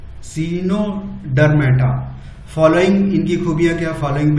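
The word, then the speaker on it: Echinodermata: 8th चिनोडर्मा जो है, सीनोडर्मा, ई silent रहेगा, सीनोडर्मेटा।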